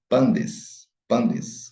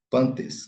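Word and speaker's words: πάντες: está no nominativo plural, pandes, né? A pronúncia erasmiana, pantes, mas pandes, ok? Pandes, unir com o taf, dá o som de D, de dado, pandes.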